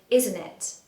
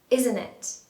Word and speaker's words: isn't it: For pronunciation, what you want to do is drop the T in the middle. So isn't it, isn't it, isn't it?